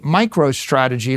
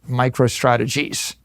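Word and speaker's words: MicroStrategy: Now, right now I name my company Micro Strategy. Let me tell you, for 30 years, half our customers mispronounced it. Micro Strategies.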